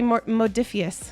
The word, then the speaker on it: Modiphius: I'm sorry, Modiphius. Modiphius. There we go. See, we're all pronouncing stuff wrong today.